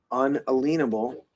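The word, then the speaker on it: unalienable: So unalenable, but that I make a long I make a very strong point of saying unalenable.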